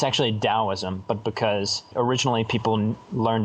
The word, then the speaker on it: Taoism: Today it's spelled Qing Dao. And for like Taoism, Taoism. It's actually Taoism, but because originally people learned about it through